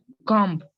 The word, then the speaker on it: comb: नहीं, कॉम्ब नहीं होता है, कॉम्ब गलत है। इंग्लिश में इसको बोलते हैं कोम। कोम, ब का साउंड नहीं आता। कोम। आई एम कोमिंग my hair. कोमिंग, ब साइलेंट है।